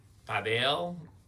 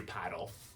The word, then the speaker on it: padel: If they call it paddle, they might get confused with paddle tennis. padel. But here in the US, you're gonna hear paddle.